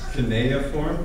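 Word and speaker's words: cuneiform: actually means um okay so this yeah it's kinea form that's proper pronunciation apparently just being corrected um and this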